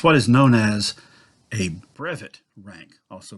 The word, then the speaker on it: brevet: is known as a brevit rank also pronounced brevette although actually it's a French word so it really should